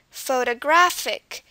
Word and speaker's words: photographic: have here is photographic photographic this uh word also has four syllables but where is the stress listen again photographic we can tell that the stress is on the graph part because that's the